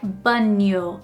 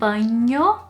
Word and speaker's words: banho: And non-native speakers would kind of add the sound of the letter i in between the n and the o. So, I hear that very often, like banho instead of banho.